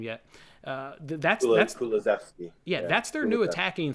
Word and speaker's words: Kulusevski: there that I don't quite know how to pronounce his name yet. That's Kulusevski.